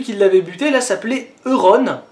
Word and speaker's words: Euron: Enfin je suppose qu'on dit Euron, ça s'écrit Euron, mais Ballon ça s'écrit ballon et ça se prononce Ballon. Donc Euron ça s'écrit Euron mais ça se prononce Euron, non? Je sais pas.